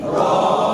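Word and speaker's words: ر: birth প্রায় কাছাকাছি দেখবে তাহলে হরফের নাম কি র র হরফের নাম কি র র র র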